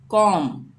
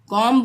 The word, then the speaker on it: comb: हम B को silent रखेंगे यानी हम इसको प्रोनाउंस नहीं करेंगे। यहाँ पे हम क्या पढ़ेंगे, कॉम, कॉम्ब नहीं पढ़ेंगे, कॉम।